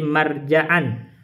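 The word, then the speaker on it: مرجعًا: Jadi marja'an bacanya marjaan.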